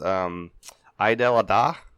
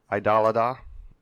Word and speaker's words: Eid al-Adha: I actually listened to videos to try and make sure I pronounced it correctly, but that E is hard for English speakers, I think. That E, E-I-D, Eid al-Adha.